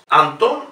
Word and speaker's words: Anton: Anton Rubinstein. Fíjense, Anton es aguda. Si fuese llana, se pronunciaría Antan. Sería incorrecto pronunciar Anton. Es Anton Rubinstein.